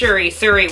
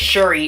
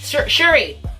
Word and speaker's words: Shuri: Like this little bitch Suri, whatever her damn name is. I want to call her the damn little Apple assistant ass. I think it's Shuri, it's pronounced.